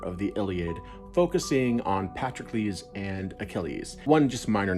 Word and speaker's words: Patroclus: I realize that Patroclus isn't necessarily the most common pronunciation of the name, I guess, but that's the one I learned long ago.